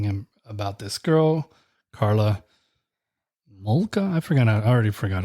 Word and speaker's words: Homolka: He's telling him about this girl, Karla Homolka.